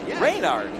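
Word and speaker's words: Reynard: well there is that rainard is that I saying it right how do you say it rard rainard well RC has given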